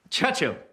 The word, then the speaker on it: Churchill: who has Churchill Churchill that's how you say it all together like that Churchill oh well that explains a lot you see I'd heard church and hill but couldn't find either all I could see